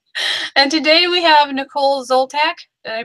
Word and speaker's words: Zoltack: And today we have Nicole Zoltack. Did I pronounce that right?